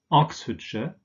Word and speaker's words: Oxfordshire: names, in combination with the names of towns, for instance, this is pronounced sh. So we have Oxfordshire, Nottinghamshire. Remember that ham is just pronounced so Nottinghamshire.